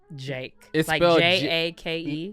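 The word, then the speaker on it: JVKE: want to put money on this you've heard j a k e it's well no it's spelled j v k e first of all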